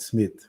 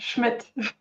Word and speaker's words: Schmitt: today I have Smith with me here did I say it correctly your last name almost Schmid Schmid yeah yeah I have